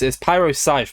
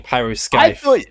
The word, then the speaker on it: Pyroscythe: I realized I pronounced the C in your name. It's Pyroscythe, but I keep saying Pyroscythe. I didn't correct it because I thought you were running a bit. Yeah, it's like scythe, like like the harvesting